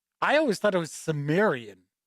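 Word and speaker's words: Cimmerian: than two i've heard chimerian and i've heard sumerian i always thought it was sumerian even though it's a c you pronounce it like an s but i could be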